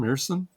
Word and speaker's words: Ersson: And it was written that Sam Ersson, is that how you pronounce his name, Ersson? Yeah.